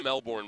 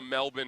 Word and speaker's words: Melbourne: I going to Melbourne would suck. Uh oh, which by the way, it's Melbourne. Melbourne. Melbourne. Melbourne. I was talking to the Melbourne advisory travel uh bureau person the other day who's an American.